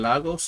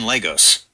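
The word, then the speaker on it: Lagos: Made in Logos. Is that how they pronounce it? Yep, you nailed it. It's pronounced made in Legos.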